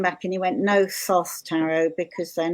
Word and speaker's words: Thoth: I've got a stunted Thoth behind me, and or Tot or Tote because they don't pronounce the H's.